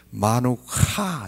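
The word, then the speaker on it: מנוחה: 이 카라고 하는 것이 우리나라에 없는 발음이에요. 하와 카의 중간 발음이에요. 마누카 이렇게 해요.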